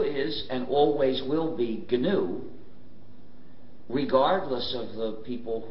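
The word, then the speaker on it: GNU: of our operating system please do not follow the dictionary if you pronounce it new you will get people very confused you see we've been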